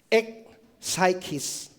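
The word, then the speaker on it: ἐκ ψυχῆς: The word heartily in Greek is no ang pronunciation diyan ay e psychis.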